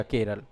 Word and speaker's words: केरलम: है ठीक है लेकिन जब आधिकारिक दस्तावेज आए अंग्रेजी में केरल लिखा गया इसको इंग्लिश में केरल लिखा गया और जब इंग्लिश में केरल लिखा गया तो फिर इसका मूल उच्चारण ही बन गया केरल एक्चुअल में मलयालम में केरलम कहा गया इसको।